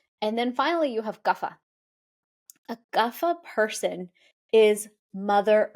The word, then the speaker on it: Kapha: that like everything settles so gaffa we pronounce that kafa here in the west GAA person is going